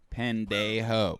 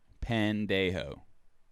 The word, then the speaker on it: pendejo: an pandey ho that's it that's exactly how you say it i live in a town with probably 50 latino residents that is how you say it pandejo don't get it twisted